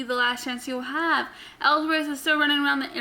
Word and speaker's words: Ellsworth: Ambrose is backstage preparing for his match when he gets interviewed, asked about a match, and he mispronounces James Ellsworth as James Ellis, I guess.